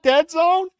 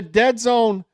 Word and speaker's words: DAZN: It rhymes with Lead Zone, I think. Lead Zone. Oh, DAZN. You're right. Formerly known as Dead Zone. It's airing on Dead Zone?